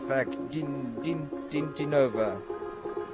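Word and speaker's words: Fakhritdinova: The MC just gave out the best pronunciation of Dinara's last name I've ever heard. Dinara Fakhriddinova.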